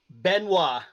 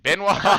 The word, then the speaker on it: Benoit: Give me a quick pronunciation of the last name, just so I know I didn't. Benoit. Benoit? Benoit. Oh, I done messed that all up. Okay, Benoit.